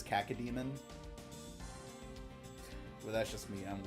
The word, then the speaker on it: cacodemon: Which I also hear some people pronounce it cacao demon. Cow. Cacao. Like the bean? Yeah. I always pronounce it as cacodemon.